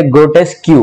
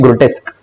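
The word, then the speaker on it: grotesque: ग्रोटेस्क, इसकी pronunciation ध्यान रखना, कुछ बच्चे इसको प्रोनाउंस करते हैं कैसे, ग्रोटेस्क क्यू, ग्रोटेस्क क्यू pronunciation नहीं होती, इसकी प्रोनाउंसिएशन होती है ग्रोटेस्क।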